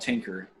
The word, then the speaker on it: Tynker: In this workshop, we'll be using a website called Tinker. It's spelled Tynker.